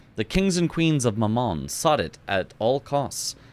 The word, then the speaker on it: Mammon: Pronouncing mammon like the French word for mom is certainly a choice.